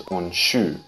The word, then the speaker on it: Unshu: its propagation from aawa but firstly the original pronunciation from aawa is unshu while the more modern adaptation that shodokan does